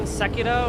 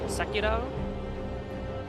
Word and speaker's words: Sekiro: Playing Sekiro, which is pronounced Sekiro.